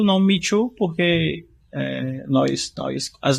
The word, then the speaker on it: ME2: me2 né na verdade a gente passou a pronúncia de mitu agora recente mas eu adoro o conceito de mitu é é mitu mitu